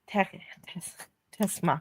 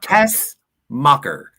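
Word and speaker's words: Tessmacher: Tess mocker. Tesmacher. It's not that hard. It is for me. I want to pronounce the th. Yeah, but that doesn't come until after like Oh, say so. Tess. T E S. Say Tess.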